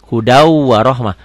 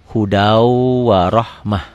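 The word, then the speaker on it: هدى ورحمة: Hudau warohmah. Tulisannya hudan, bacanya hudau. Idgham bigunah. Kenapa? Karena tanwin, karena patah dua, patah tain ketemu waw. Tulisannya hudan warohmah, dibacanya hudau warohmah.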